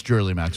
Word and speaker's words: Jherlymax: How would you pronounce that? That's Jerly Max. I mean, well, the J could be silent. I guess it could be Hurley Max. No, that's Jerly Max for sure.